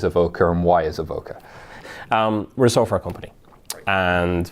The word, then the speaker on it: Avoka: all right chief experience the evoke a bit wrong oh I see you knew or pronounce something wrong Avoca right nice it's Corcoran and Avoca there we go beautiful